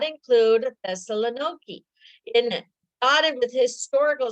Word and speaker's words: Thessaloniki: Thessaloniki, but it used to be in the Bible, Thessalonica.